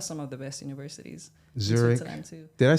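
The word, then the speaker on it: Zürich: Zurich. In Switzerland too. Did I say it right? Zurich, yeah, that's where I was born.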